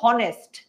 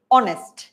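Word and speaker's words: honest: আমি কিন্তু বলছি না যে হনেস্ট, বলছি হনেস্ট, হনেস্ট বলছি না, আমরা বলছি অনেস্ট।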